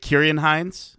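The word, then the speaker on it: Ciarán Hinds: I do also think that is it Kieran Hines? Is that how I would pronounce that? Yes, it's a hard C.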